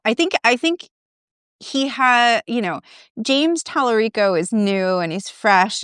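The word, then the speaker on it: Talarico: Everyone apparently says his name wrong, so maybe I just did. I But think Tallarico is right. is Tallarico that is right, right?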